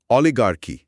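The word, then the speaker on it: oligarchy: এবার নাম্বারফর নাম্বারফর অলিগারকি। গোষ্ঠীতন্ত্র বা কুলিনতন্ত্র। হ্যা। এমন এক শাসন ব্যবস্থা যেখানে ক্ষমতা শুধুমাত্র একটি ছোট গোষ্ঠীর হাতে থাকে। উচ্চারণটা হল অলিগার্কি। অলি গারকি অলিগারকি একটা উদাহরণ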